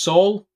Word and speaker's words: Saul: It's the same as Saul Goodman from Better Call Saul.